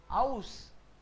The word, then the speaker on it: aus: ए यू को बोलेंगे आउ, ए यू विल बी आउ, आउ, आउ। And what is this? आउस। करेक्ट, आउस।